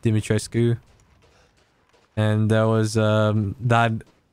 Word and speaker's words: Dimitrescu: but i would say i'm going to say dimitrescu or dimitrosku you mean dress coup because apparently someone there was like an actual romanian person and she pronounced it dimitry sku and there was um